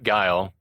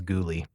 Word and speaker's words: Guile: like up and down that his name was Ghoulie. Ghouly. Bill Ghoulie phonetically whose name is Guile?